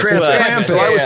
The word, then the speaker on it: Krampus: Is there the pronunciation thing? It looks like Oh, Krampus. Krampus. It's Krampus.